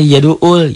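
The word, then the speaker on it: يَدُعُّ: sudah jadi Ustaz Ustazah bacanya yaduul yaduul bukan Hamzah di situ bukan Alif Ain Kenapa Alif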